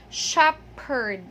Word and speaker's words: shepherd: We don't say shepherd, but we only pronounce the P. We only say shepherd.